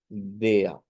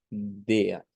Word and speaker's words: der: visto con anterioridad que se va a pronunciar como DEA DEA en donde decíamos que la r se vuelve una a centralizada una eh con la